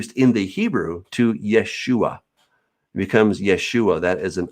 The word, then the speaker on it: Yeshua: the first century his name would have been pronounced yeshua he came he is the the uh so